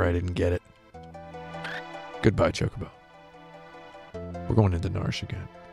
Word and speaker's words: Chocobo: tandem with one another he pronounced it Chuck oboes in Japanese it would just be chocobo so that's how I pronounce it I got yelled at